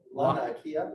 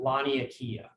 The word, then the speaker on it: Laniakea: Laniakea? Laniakea. Laniakea supercluster.